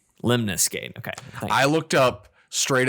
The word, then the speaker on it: Lemnis Gate: So did you say Lemons Gate? It's spelled ELEMNIS. MNIS. Man, is that how you would have said that? Lemons Gate? Lemnis Gate.